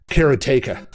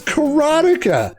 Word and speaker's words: Karateka: sell my first game karateka what karateka it's karotika how do you not know how your own game is oh oh boy